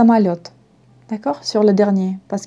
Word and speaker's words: Mayotte: ça mayotte ce à mayotte d'accord sur le dernier parce qu'il ya eu il ya toujours l'accent sur est la dernière syllabe donc c'est mayotte toujours ok à petit